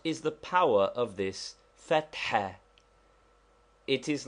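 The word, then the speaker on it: فتحة: Fatha, to be pronounced with a roughly aspirated ha, which we have indicated by a dot under it, and which is somewhat like HH or doubly strong H.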